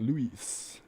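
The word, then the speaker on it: Louis: i used to be st luis luis what's with silent letters that's all i want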